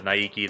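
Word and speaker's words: Naegi: you Mr n true quality Mr n Mr Nigi that's how you say it Nigi Nigi and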